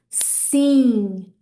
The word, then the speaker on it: sim: So hopefully by putting that ng at the end of those words, you're going to be pronouncing them correctly.